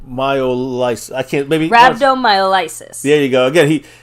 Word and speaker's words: Rhabdomyolysis: medical issue so uh like Mr mcf said Rhabdomyolysis that's how you pronounce it uh long story short in layman's